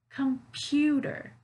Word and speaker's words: computer: stress so beautiful computer computer you hear where the stress is is it the first syllable second or third it's the second syllable computer hey pew computer